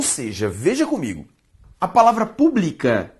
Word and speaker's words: pública: A palavra pública e a palavra pública, ambas existem na língua portuguesa e se diferenciam como? Pela sílaba tônica. Publica, paroxítona. Pública, proparoxítona.